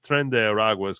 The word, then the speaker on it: Tren de Aragua: de Aragua, which Pisco told me how to pronounce that, Tren de Aragua, are liable to be apprehended and removed under